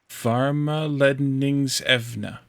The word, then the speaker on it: Varmeledningsevne: The S is at the end of the second syllable. Varmeledningsevne.